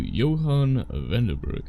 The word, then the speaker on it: Johannes: Because he pronounces the S, which feels weird. I've met Johannes, and then there's also the old Germanic story of faithful Johann. No one pronounces the S. No one does.